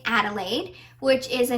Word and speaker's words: Adelaide: lemonade I think because Adelaide rhymes with lemonade I just had this